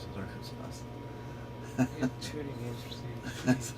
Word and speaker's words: Arkansas: That's how you pronounce it, Arkansas.